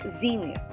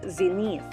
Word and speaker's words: zenith: syllable is nif xenia notice that the stress symbol is on the first syllable therefore it's pronounced as zenith not zenith next word renounce the